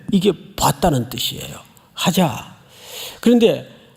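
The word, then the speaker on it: חזה: 봤다는 뜻이에요 하자 그런데 원래 히브리 정통 발음대로 하려면 그 앞에다가 들릴 듯 말 듯 가자 정통 발음이에요 과자 근데이 큰 자를 이렇게 세게 안 합니다 아주 연하게 과자 그 한 듯 안 한 듯 그게 보다라는 뜻이에요 보다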